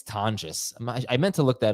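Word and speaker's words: Tonges: I have Tongus a little bit higher. I think it's Tangas. I meant to look that up all week. Tongues. Uh, it's pronounced Tonis.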